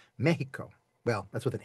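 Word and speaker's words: México: Mexico, M-E-X, the letter X in Spanish, generally, some drift on this, generally gets the sh sound. So it's not Mexico, it's Mexico.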